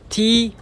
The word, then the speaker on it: TOEIC: TOEIC T-O-E-I-C と書いて TOEIC です。